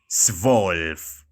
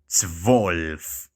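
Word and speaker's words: zwölf: act 11 is elf elf then twelve is svolf swolf so as i mentioned earlier it is very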